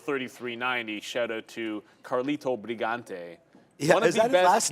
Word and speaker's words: Brigante: shout out to carito brigante is that his last name in that I didn't even know that yeah and you have to say it brigant you can't say B yes now that you